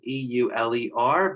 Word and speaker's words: Euler: mathematician, a German mathematician whose name is Euler. It's spelled E-U-L-E-R, but in German, you're supposed to say that out loud as Euler.